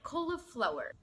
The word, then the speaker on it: cauliflower: نركز بقى في نطقها، احنا هنقسمه ل4 مقاطع. co lo flower co lo flower cauliflower.